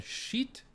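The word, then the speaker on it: Schiit: called a Valhalla 2 Amp from sheet I know it sounds silly but it's how it's spelled It's s c h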